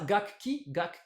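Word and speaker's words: 楽器: Alors, les lectures sino-japonaises sont gaku plus ki, ce qui devrait nous donner gakki. Mais ça, gakki, c'est pas évident, c'est pas hyper naturel à prononcer pour les japonais. Là, je suis Du coup, d'accord. le second kana du premier kanji, ce ku, se transforme en pause, ce qui nous donne gakki, hein, ce mot qu'on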